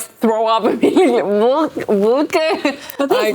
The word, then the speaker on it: Wilke: So tell us about who is Nadine Wilken. And Nadine just spilled coffee. Let's spill the tea. Let me get you like tissue. Yeah, so tell us about who's Nadine Wilken. Wilken, right?